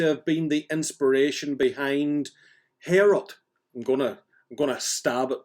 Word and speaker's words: Heorot: And that seems to have been the inspiration behind Heorot. I'm gonna stab at pronouncing it right.